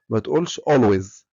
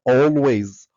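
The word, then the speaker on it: always: هويز معناها دائما وطبعا ما تقولهاش ما تقولشويز اسمها اولويز اولز وحرف الاي اذا جا بعده حرف الال ينطق اقرب ما يكون لحرف الاو يبقى هنقول اول دائما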